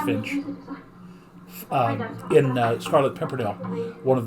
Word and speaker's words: Finch: Still just pronounced Finch.